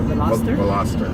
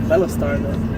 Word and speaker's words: Veloster: How do you say the car? Veloster? Veloster. I think Velostar, Veloster. I would just say Veloster. Veloster. Velostar sounds like a spaceship or something.